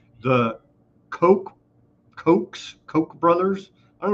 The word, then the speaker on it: Koch: It's not the Coke Cokes. Koch brothers. I don't know why they and it's spelled like coach but they say coke so everybody knows the coke brothers craft it's